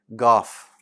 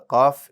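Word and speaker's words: قاف: gene goff right and that's also a mistake now what you want to do is make sure that it's bold and you don't have to add any air and you want to know its location so that you can eliminate most of these mistakes right and that is that the cough is in the back of the tongue right close to where the uvula is so beneath it holding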